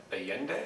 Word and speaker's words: Allende: move on to uh alien day is that the pronunciation yeah well alien day again president